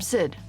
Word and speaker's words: Xid: I'm Sid, by the way. I should have introduced myself before. Nice to meet you officially, Sid. Although... Okay, so they're pronouncing the X more like an S, just Sid.